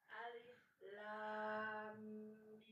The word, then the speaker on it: Alif Lam Mim: Alif lam mim. Oke, saya bedah dulu ya. Alif lam mim. Ini masih di sini di 3 ketukan. Lam dia harus 6. Ingat ya, lam harus 6. Alif lam mim.